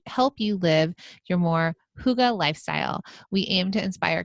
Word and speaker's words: Hygge: It's spelled Hygge. So, for those of you who don't know, it's pronounced Huga, and the Danish concept